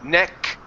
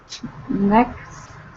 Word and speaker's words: next: next next NE huh so it's going to be you need an an S and a k sound there neck next there you go okay the